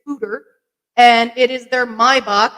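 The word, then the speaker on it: foeder: e d r but not pronounced foder it is footer and it is their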